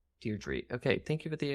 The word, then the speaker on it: Deirdre: keep making that mistake super British name Deirdre he's probably still spelled the same as Deirdre but they say Deirdre dear tree okay thank you for